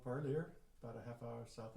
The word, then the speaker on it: Parlier: at we are in a little town called parlier about a half hour south of fresno and park it's actually a french perlier but it's uh gotcha i've seen it on i never knew how to pronounce i've seen it going south on the